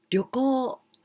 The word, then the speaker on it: 旅行: 旅行 this kanji is from the 行きます to go 行きます and the pronunciation り and よ small よ like よ like O sound 旅行 and u, so this is the long sound 旅行 trip or the